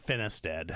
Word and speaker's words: Finisted: Finisted. Finisted. Oh, it's got 3 syllables.